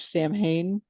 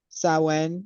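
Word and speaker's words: Samhain: the the history of Sam Hayne or saen is that how they really say it yeah that's a I think that's a Gaelic pronunciation yeah um she's like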